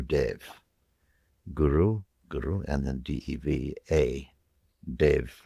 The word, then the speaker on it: Deva: Dev is pronounced Dev without that final A.